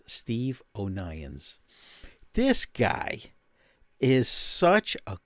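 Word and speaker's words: O'Nions: the internet he's from the uk steve o'nyan's it's spelled o apostrophe n i o s steve onions this guy is such a great photographer he'll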